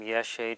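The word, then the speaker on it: ཡེ་ཤེས: Well, if we were trying to pronounce that, we would get ya drengbu ye, drengbu sa a, so we get something like ye a, which is pretty close to ye she.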